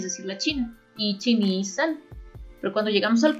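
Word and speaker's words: 三: Su pronunciación onyomi es san y su pronunciación kunyomi es mi.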